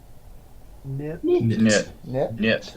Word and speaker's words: knit: yeah okay next word knit with a silent k okay next foreign ink